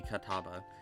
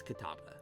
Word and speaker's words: Catawba: I think that would be Catawba. I think it's the W before the B that fucks me up on that one.